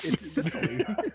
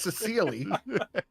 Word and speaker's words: Sicily: can promise you it's Sicily, not Sicily.